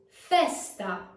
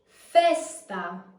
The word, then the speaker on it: festa: the first word is Festa Festa Festa has an open air as in Best Fest next up we have